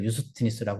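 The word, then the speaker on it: 유스티누스: 근데 요즘엔 다 추세가 라틴어 발음을 다 따라가서 원래 그 사람들이 불렀던 발음을 해주는 게 추세입니다. 그래서 유스티니스라고 하는데요.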